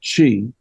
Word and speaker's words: Qi: letters uh but pronounced Chi uh it sounds it if you were to spell out the sound it would be c-a-g-e and um this is